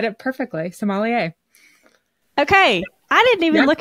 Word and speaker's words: sommelier: if I'm saying this right how do you pronounce Somalia is that right you are perfect I got